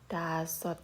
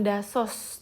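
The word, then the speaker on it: 다섯: Dasot gitu. Ini dibacanya bukan dasos teman-teman, tapi kita baremnya atau pengucapannya adalah dasot.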